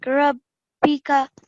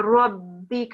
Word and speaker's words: رَبِّكَ: for a bit, like Rabbika? Exactly. You've pronounced brilliant. So it's not Rabbi, it's a Rabbika, and you do stay on the ba for a tiny bit long.